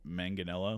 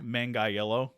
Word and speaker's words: Manganiello: Also starring Uma Thurman and Joe Manganiello. Is that how you say his name? Yeah, yeah. Manganiello.